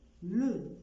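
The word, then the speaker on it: le: اكزامبل تاني، لو، لو ما قلتش لي او ل.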